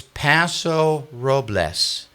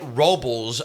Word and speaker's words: Paso Robles: And this goes to a more of a regional thing, but it's Paso Robles. Where do you get robels out of r o bles?